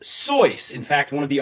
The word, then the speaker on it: Seuss: If this wasn't supposed to be pronounced Dr. Seuss, how was it supposed to be pronounced? It's correctly pronounced Soy.